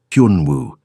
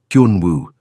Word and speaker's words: Hun Wu: Hun Wu. He said it slowly. Hun like hun, but with a Y sound. Woo. Like woohoo. Hun Wu.